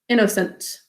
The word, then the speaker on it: innocent: So I, n, syllable break, n, o, syllable break, s, a, n, t, innocent. First syllable, the n is silent.